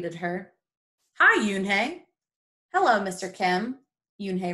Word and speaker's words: Unhei: joey she nodded slowly yes it's pronounced yoon hey and it means grace